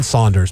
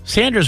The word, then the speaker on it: Saunders: John Saunders. But I've heard John Saunders referred to as John Sanders before. Saunders is Saunders. Sanders would have no U.